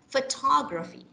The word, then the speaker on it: photography: all right so yeah you actually say it this way photography the second syllable is stressed okay fur because there's a schwa so fur then you have tag photography photography got it yeah so after this